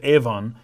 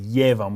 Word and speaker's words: Yevon: In Japanese, they say ebon. Ebon. E-B-O-N is how it's pronounced in Japanese. Ebon. Ebonin, or ebonma. So there's a reason for this. The word evon comes from, and so it should be pronounced Evon.